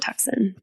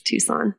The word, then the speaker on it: Tucson: It is not Tucson. That's how it's spelled. It's Tucson.